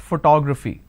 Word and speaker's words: photography: It's actually pronounced as photography.